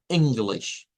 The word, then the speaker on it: English: I English. English. Y nótese que esta es otra i, pero miren, aparece acá. O sea, que esta palabra tiene en realidad dos y cortas.